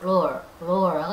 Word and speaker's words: lore: L-O-R이 스페링 그대로 이렇게 읽는데 영어 발음 roar라고 하죠.